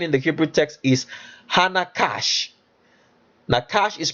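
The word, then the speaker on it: נחש: It says what is different about this approach is that I view the base word nakash as an adjective not a noun.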